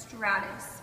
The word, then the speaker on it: stratus: It is pronounced stratus.